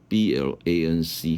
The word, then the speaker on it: Blanc: Thành phố Munier Loại từ này Sau đó cái thứ tư là cái gọi là Rượu Pinot Blanc B-L-A-N-C Hoặc Blanc Đây là Đó là cách phát âm của tiếng Pháp.